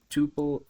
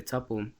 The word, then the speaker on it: tuple: data structure which is the Tuple or the topple however you want to pronounce it so um how you